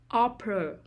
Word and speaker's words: opera: folk music non-essential non-essential opera opera the stress is on the first syllable opera originate originate the